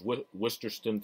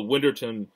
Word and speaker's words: Winterton: then ryan whit whitterton who i always mispronounce his name is worcesterston for some reason but winterton um is the heavy